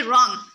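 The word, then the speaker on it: wrong: उसके बाद है रॉन्ग, रॉन्ग में जो डब्ल्यू है वो साइलेंट हो जाएगा।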